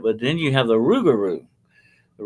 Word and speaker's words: rougarou: But then you have the rougarou. The A rougarou, rougarou, I've heard of yeah, that.